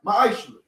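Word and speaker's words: מעשר: Means tenth in Hebrew, and is pronounced ma'ashra.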